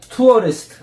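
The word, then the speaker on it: tourist: 투어리스트. 투어리스트. 그러니까 투어리스트 이렇게 하는 게 아니고 R 발음이 투어리스트.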